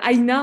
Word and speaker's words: AINA: D'ailleurs, Aïna, en un mot, qu'est-ce que ça veut dire? Aïna, déjà, ça se rapproche du mot les aînés, que j'aime Ouais.